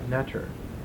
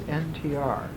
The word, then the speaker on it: ntr: Wallace Budge put two E's in between so it could be pronounced netter. But actually it's NTR.